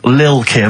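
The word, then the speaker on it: Lil' Kim: I'm pronouncing that correctly. Lil Kim.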